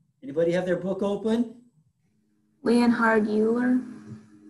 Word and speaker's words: Leonhard Euler: is this guy anybody have their book open leonhard euler oh leonard euler not euler euler okay anybody know why this is pronounced euler this is the german guy's german